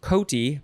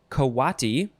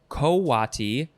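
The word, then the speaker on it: coati: is a word that looks like it would be pronounced koti but it is not it is uh you've got a few pronunciations kawati uh also well that's very similar so kawati kowati or kwati the first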